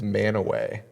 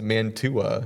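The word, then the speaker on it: Mantua: Well, it's still pronounced manaway. It's just spelled weird.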